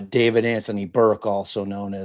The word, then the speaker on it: D4vd: Like, if if Cam hadn't told me that that that guy's name was pronounced David with the four there, I would have been like, "What? D4 VD?"